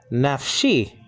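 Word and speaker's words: נפשי: Actually is nafshi. You got the noon, you got the pathach, so that's na. And then you have a pay with the schwa underneath it, making it one syllable, naf.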